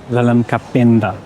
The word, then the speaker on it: Wellem Kapenda: Is that how I pronounce it? Wellem Kapenda.